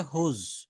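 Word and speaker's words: whose: এটা উচ্চারণটা হবে হুজ। এটা উচ্চারণটা হবে হুজ।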